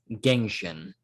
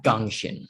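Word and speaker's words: Gengxin: work exactly here but i like um gangshin uh as a name perhaps i think that's how you pronounce it g e n g x i n g-e-n-g seems weird gangshin with gangshin okay maybe for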